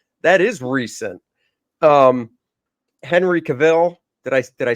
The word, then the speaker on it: Cavill: Um, Henry Cavill. Did I say it right this time? Cavill.